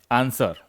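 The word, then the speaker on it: answer: ऐसे वर्ड होते हैं जहां पर W साइलेंट होता है, जैसे आंसर। आंसर में आप W को हटा भी दोगे फिर भी क्या पढ़ोगे इसे, आंसर।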